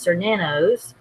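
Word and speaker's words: Cernunnos: sexual powers are increased sore nanos that tells you how it's pronounced also known as her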